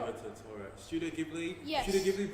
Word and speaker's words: Totoro: I got this wrong pronouncing this earlier. So It's it's Totoro.